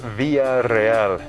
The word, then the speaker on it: Villareal: get that a lot it's via real really via via yeah break it into two names if you will yeah so it means